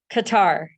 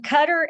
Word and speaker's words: Qatar: does it say Qatar Qatar like guitar okay all right it says between cutter and butter Qatar all right all